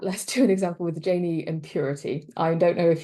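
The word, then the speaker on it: Gini: with um I've just seen Dan says it's pronounced Janie so I'm going to go with that let's do an example with Janie impurity I don't know if you're if this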